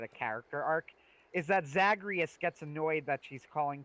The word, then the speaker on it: Zagreus: to say my name it's not murder it's zagreus zagreus and over the course